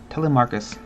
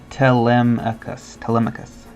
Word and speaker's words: Telemachus: Alright. Telemachus. Oh, like telemetry, but okay.